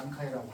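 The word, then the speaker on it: 南海: 남자를 난이라고 하고 해를 카이로 발음해요. 그러니까 남의 해루를 말합니다. 난카이라고 하는 거죠.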